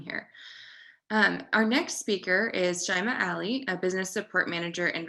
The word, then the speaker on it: Shaimaa Aly: So my name is Shaimaa Aly. It's pronounced like someone who's shy than MA, but clearly I'm not shy.